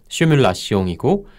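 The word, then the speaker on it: simulation: 그게 맞고 이게 프랑스식 발음법을 그대로 따른 게 시뮬라시옹이고 요거는 시뮬레이션 하기라는 뜻이에요.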